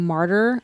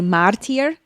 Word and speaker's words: martyr: oh yeah yeah like my mom instead of saying martyr would say martier you are being a